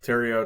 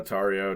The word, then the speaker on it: Tario: your last name correctly Tero tario tomato tomato it's tomato tomato tario Tero Tero okay most of my